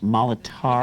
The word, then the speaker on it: Molitor: It's pronounced Molitor.